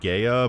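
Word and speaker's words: Gaea: Essentially, they are the Guardian Protectors of the planet of Gaia, although it's spelt G-A-E-A, which should be pronounced Gaia, but never mind.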